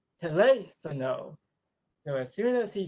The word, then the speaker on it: teléfono: To give an example of her teaching methods, one day he said the Spanish word for telephone, telefono, which is actually incorrect because in Spanish the accent is on the second syllable, teléfono.